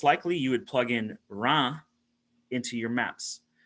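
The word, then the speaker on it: Reims: you would plug in ra into your maps so that's spelled r-e-i-m-s and they would pronounce in the region or ra kind of just uh it's one big it's one big vowel almost and it's at 49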